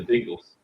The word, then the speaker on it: Bengals: The Bungles. That was. You say the Bengals. Yes, the Bengals. How do you say it? You say it as the 80s all-female group that is famous for Walk Like an Egyptian, I believe. Me? Yeah. Oh, I said Bengals.